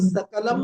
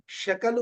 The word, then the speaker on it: शकल: उसमें बड़ा तरीके से समझाया, कलम सकलम मा भूत, शकल को कोई सकल न बोल दे।